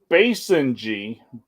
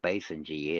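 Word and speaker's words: Basenji: to pronounce this right so I'm gonna the Basin G and it's spelled Bass b-a-s-e nji the Basin g dog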